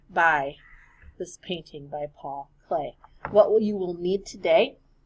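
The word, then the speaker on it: Klee: it would be pronounced cle but it is pronounced clay and this is one of his more famous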